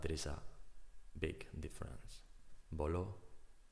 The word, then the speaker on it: voló: Voló, voló, strong syllable, voló, voló, past tense of volar, to fly.